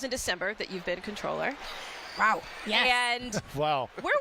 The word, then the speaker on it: comptroller: is it controller or comp controller the debate so it is spelled comptroller but the official way to pronounce it is controller okay we take it